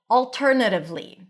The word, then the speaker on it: alternatively: The next one is alternatively. Alternatively. Pronunciation. You can either pronounce it with an A as in daughter. It's a more rounded version of the open A sound, or A, alternatively. Choose whatever you want.